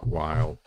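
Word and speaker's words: Weil: time and of course she would have pronounced it V so that's now the popular way but anyway you may know it as Simone while but in any case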